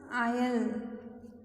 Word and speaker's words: isle: lake isle of innisfree it will be pronounced il s is silent in this world lake